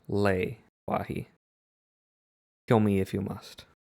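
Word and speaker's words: Le-Wahi: So, moving on to Leewahi, which uh I thought was a nice segue because the most recent I'm going to call it Lee Wahi, but it is pronounced Lei Wahi.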